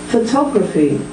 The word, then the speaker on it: photography: person can move around photograph photography it's moved from the first syllable to the second photographic it's now moved